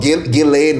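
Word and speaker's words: Ghislaine: The S is silent apparently. Will he pardon Gileain?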